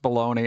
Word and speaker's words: bologna: I know it's pronounced baloney.